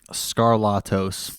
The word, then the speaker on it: Skarlatos: it like tbec TRC what is the exact pronunciation of the last name scarlatos yeah scar nailed it I nailed it dude